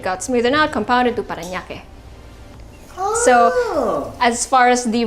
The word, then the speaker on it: Parañaque: Even if I kind of butchered it because Para Parañaque. para añaque. There you go. Parañaque. So it's 3 words that just got mushed together to become Parañaque.